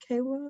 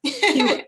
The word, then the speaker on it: Keela: Kella, is it Kella? Kayla? I'm sorry. How do you say your name? Keela.